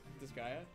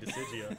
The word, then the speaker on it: Disgaea: Is that how that's pronounced? Disgaea? Yeah. Holy shit, I've never pronounced it, but I've said it in my head wrong. When you're like, this guy, I'm like, Decidia. Decidia.